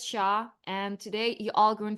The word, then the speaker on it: Hsia: You pronounce it as Shia.